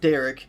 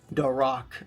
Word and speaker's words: Dac: It's not Derek, it's Dac. Um, kind of like The Rock, but D Rock.